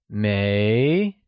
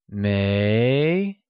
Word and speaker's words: 没: The second one is mei, pronounced with a mid-rising tone. It is said as mei.